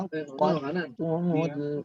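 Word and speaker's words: عقدتم: dengan ta yang bertasydid, maka bacanya bukan aqadtumul, tidak, tapi dimasukkan ke huruf ta langsung karena ta da itu hampir sama cara pengucapannya sehingga dia langsung masuk ke huruf selanjutnya. Jadi bukan aqad habis itu tumul, tidak, tapi aqad tumul aiman langsung ya.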